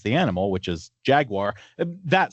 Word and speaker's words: Jaguar: according to the company Jaguar. Brits would say Jaguar without the R ending.